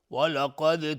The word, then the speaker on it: ولقد: ولقد، قاف از حروف استعلاء غلیظ تلفظ میشه، دال قلقله میخواد چون ساکنه.